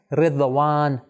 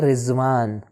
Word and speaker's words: رضوان: رضوان. ہم اردو میں کیسے تلفظ کرتے ہیں؟ ہم کہتے ہیں رضوان. کیوں؟ کیونکہ ہم ضاد کو اس طرح جس طرح عربی میں تلفظ ہوتا ہے اس طرح نہیں کرتے.